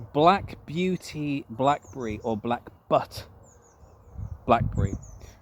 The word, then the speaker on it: Butte: So, it's spelled B U T E. So, it's a double T. So, it's but. Uh, now the E really should be silent. So, it should just be but.